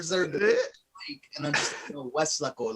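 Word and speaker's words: Weslaco: And I'm just Westlaco, like there's no lake. That's just how you pronounce it.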